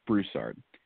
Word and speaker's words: Broussard: just one small correction my last name is pronounced Broussard ah thank you for